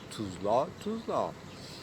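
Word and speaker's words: Tousla: Ici, c'est Tuzla, mais ça s'écrit pas comme dans une alphabétique avec les lettres latines, donc laïques, mais ça s'écrit avec orthographe français pour qu'on prononce depuis toujours Tuzla.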